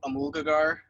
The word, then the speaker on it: Amulgagar: Um, so I never actually figured out exactly what the correct pronunciation was, but I usually pronounce it Amulgagar, but Amulgagar.